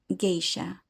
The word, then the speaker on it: geisha: An example of this is the word geisha, whose pronunciation is closer to its native Japanese sound.